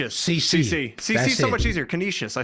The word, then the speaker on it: Canisius: for a second CCC CC so much easier Canisius I said it right that time so we're